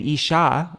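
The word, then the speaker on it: Īśā: refers to the Lord and Isha with a long a refers to my lady mistress um so Isa is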